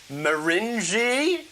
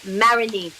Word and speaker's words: Marigny: theatre wrong, it's Theatre Maringi? It's not it, is it? It's with the French pronunciation, you'd say Marigny or Marigny. Marigny. Just say Marigny. Marigny. You like marinate, but Marigny.